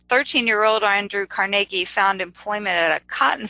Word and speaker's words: Carnegie: lasting impact on Carnegie and if I say Carnegie that's actually the proper pronunciation I grew up saying Carnegie and as most people did so if I